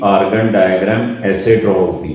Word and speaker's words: Argand: दो, इसके स्पेलिंग है आर्गन, ARGAND, आर्गन diagram. D silent है, इसको प्रोनाउंस करना है आर्गन डायग्राम, ये वाला डी साइलेंट।